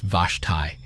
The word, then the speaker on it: Vashti: Vashti Seacat, pronounced Vashti, was 34 years old in the spring of 2011.